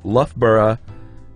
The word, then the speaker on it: Loughborough: My free tip for you is that if you ever have to discuss a place called Loughborough in Leicestershire, it's pronounced Loughborough in Leicestershire.